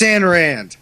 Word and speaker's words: Ayn Rand: I think I really hate Ayn Rand the most because her name's fucking Anne and she insists I pronounce it differently. It's Ayn Rand.